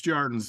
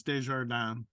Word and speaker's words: Desjardins: It's Djordens. Hard S is a Z. Djordens, yeah. Unless I'm in Sault Ste. Marie, then it's Desjardins. But I'm not in Sault Ste. Marie today. Okay, so Djordens.